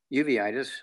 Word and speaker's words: uveitis: weight three twice a day the uveitis is pronounced correctly uveitis okay is the sort of place in the